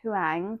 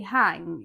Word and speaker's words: Huang: Um it's probably Hang. You probably don't pronounce the U.